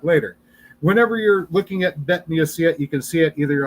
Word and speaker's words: bet: And bet can be pronounced either with a b or a vv sound.